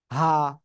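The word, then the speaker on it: ح: হা। গলার শুরু থেকে উচ্চারণ হয় হা।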